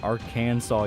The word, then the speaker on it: Arkansas: It's pronounced Arkansas, you idiot.